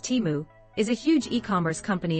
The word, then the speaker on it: Temu: to the Super Bowl at the aired tenu pronounced timu is a huge e-commerce company in China similar